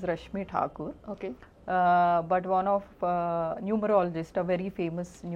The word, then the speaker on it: Rashmi Thakur: actual name pronunciation is Rashmi Thakur.